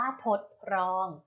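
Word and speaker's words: ทดรอง: นะ คะ ทด ลอง อ่าน ว่า ทด ลอง ทด ลอง ประกอบ ไป ด้วย เพราะ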